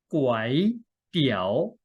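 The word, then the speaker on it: ก๋วยเตี๋ยว: Guay Tiew 는 하강조 에서 상승조 로 읽습니다 . 구아이 , 구아이 , 구아이 ; 그리고 이 구절 역시 하강 에서 상승 하는 어조로 읽어야 합니다 . 띠우 , 띠우 , 띠우 .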